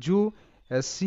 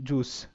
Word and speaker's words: juice: রস্যউ এর মতো, তো জু। সি এর সাউন্ড এখানে স এর মতো হবে কিছুটা, কারণ কি এখানে সি এর পর ই লেটারটি আসে।